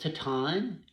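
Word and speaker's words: Titane: on to this one I think is pronounced taton TI t a NE e it's a French film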